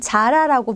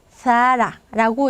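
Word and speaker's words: Zara: 해 주게 됩니다 자 스페인 옷 브랜드 있죠 어 우리나라에선 자라라고 많이 알려져 있는데 이제 스페인 기업입니다 자 스페인 사람들은 뭐라고 별 라 사라라고 이렇게 마음을 하겠죠 자 또 쏘로 여우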